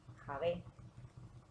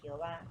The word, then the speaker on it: Yahvé: acertada de todas es Javé. En la pronunciación hebrea se escucha mucho la pronunciación de la J, ¿no? Jaj. Mehusel, Javet, Shavet, aunque muchos hablan de Jehová, pero es una fusión entre Señor y Hak.